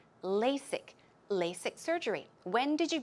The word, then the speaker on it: LASIK: about that as well the pronunciation of LASIK here is lay sick it's not a Z but rather S sound okay the strong s LASIK LASIK LASIK surgery when did